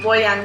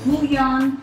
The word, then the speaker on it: bouillon: We also are going to use some vegan bouillon cubes. Is that how you pronounce it? Bouillon? Bouillon. Bouillon. Yeah, it's French. Bouillon. Yeah. Okay. Yeah. Emphasis on the bouillon.